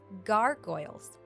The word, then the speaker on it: gargoyle: away from the walls let's make sure you pronounce it correctly Gargoyles the word gargoyle might remind you of gargo